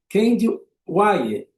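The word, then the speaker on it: Kehinde Wiley: de Botitelli agora com Candy Wer, que é assim que pronuncia o nome desse artista negro americano, ele afro-americano, nascido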